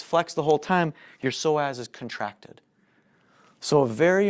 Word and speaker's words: psoas: okay next one is called the psoas spelled with a PS Oh a s okay the so as is more commonly known